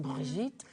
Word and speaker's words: Brigitte: Is it Bridget, Brigitte? I don't know. I'm Brigitte.